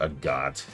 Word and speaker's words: Agate: though they're agot or agate or god I've already forgotten how to pronounce it. Agate. Your name is Agate.